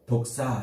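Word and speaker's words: δόξα: 헬라어로 독사, 이렇게 독사, 뱀처럼 발음이 똑같은데 영화롭게 한다, 독사조 그 말이란 말이에요.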